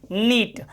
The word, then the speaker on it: knit: ठीक है, और देखो एक शब्द KNIT, नीट, नीट मतलब होता है बुनना, स्वेटर वगैरह जो बुनते हैं, KNIT, नीट, नीट मतलब बुनना।